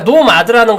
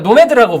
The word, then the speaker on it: 노매드: 책인데 한국에 출간될 때 제목이 노마드였어요. 그러니까 한국에서도 그러니까 노마드라는 걸로 이렇게 했었는데 실제로 외국에서는 보니까 노매드라고 부르고 이게 영화 나오고 하면서 제대로 된 발음으로 좀 교정이 된 거고 이게 노매드가 유목민이라는 뜻이더라고요.